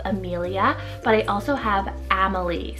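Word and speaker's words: Amalie: I have two kind of spellings for my next one here, and they both have actually a little bit of a different pronunciation.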